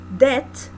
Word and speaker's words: debt: in bread famine taxes debt the B is silent yes so you say